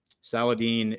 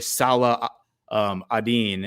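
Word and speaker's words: Salah ad-Din: film and his his he really Salah um Adin and that's what they call him in the film that's actually how you pronounce his name but um the Ang Anglia version is Saladin that's what people call him throughout history in the west is they call him Saladin so he uh he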